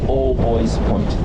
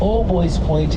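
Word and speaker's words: Albuoy's Point: area is known as old boys point now we pronounce it boys but it's spelled like booies like the bers yeah and according to the mayor of Hamilton if you believe all boy point is the apex of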